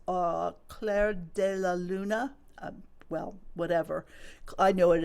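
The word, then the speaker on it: Clair de Lune: I think it's uh Claire Deal Luna. Well, whatever. I know it is. Claire DeLoon.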